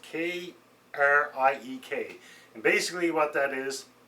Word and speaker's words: Kriek: So this is the Lindeman's Kriek, I believe it's pronounced Kriek.